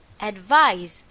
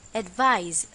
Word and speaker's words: advise: and the pronunciation is advise remember that this time it's a z sound advise for our exercise fill